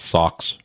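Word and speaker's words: Saw X: budget of 13 million is that proun pronounced socks it is socks socks the cat socks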